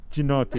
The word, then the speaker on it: Giannotti: It's actually pronounced Gianotti.